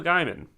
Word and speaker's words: Gaiman: The thing with Neil Gaiman (pronounced wrong) is that I haven't- Angela: It's Gaiman.